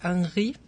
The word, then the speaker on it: Henri: Y bueno, pues es que sí, el protagonista, que bueno, me imagino por ser francés, es Henri, es como se debería de pronunciar, pero bueno, Henry para que se entienda mejor.